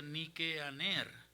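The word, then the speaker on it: Νικάνωρ: Nicanor en griego se pronuncia Nikeaner, que significa en griego vencedor de los hombres.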